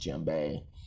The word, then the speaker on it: djembe: about today is the gem bay and um the d is silent as you see here it's pronounced jimbei and it's the most